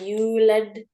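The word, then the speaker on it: يولد: I didn't hear that D sound. Walam yulad.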